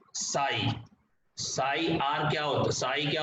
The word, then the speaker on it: psi: अब मतलब साई जो आपका है इसको PSI बोलते हैं प्रोनाउंस करने के लिए, और साई आपका वेव